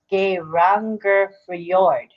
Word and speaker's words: Geirangerfjord: So the pronunciation, I think, is Geirangerfjord. Fjord. SJ is FY sound. So it's Geirangerfjord in Norway.